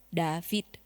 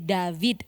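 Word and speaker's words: דוד: Kalau yang ringan kan David, tapi bukan begitu cara bacanya, harus David.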